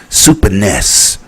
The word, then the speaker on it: Super NES: and es classic system or as the japanese say super ness cuz we've been saying it wrong since the eighties i'll be back tomorrow